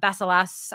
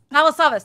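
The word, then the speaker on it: Rob Balasabas: We've got some of our partners, Roberto Blake, Dean Niman, Rob Basilas. Oh gosh, I can never say it. How do you say it? Balasavas.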